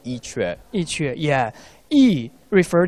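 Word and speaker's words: 伊阙: We pronounce Yi Que, the original name of this place.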